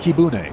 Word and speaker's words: Kibune: It's pronounced Kibune, which is in Kyoto.